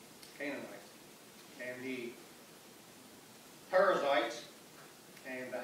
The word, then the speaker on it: Canaanites: Amorites and the Canaan, it's a little difficult to pronounce it here, it's not like it looks, it's Canaanites, and the Perizzites and